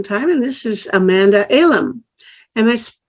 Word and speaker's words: Elam: other a long time and this is Amanda Alam am I pronouncing your name correctly Amanda elim yes elim good and um Amanda is the